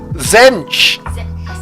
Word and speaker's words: Zench: I said Zench, you went Zench. I did, guys. Zench. It's like a Zench. It's got a silent T. You don't actually pronounce the T, but it's still got like a Zench on it.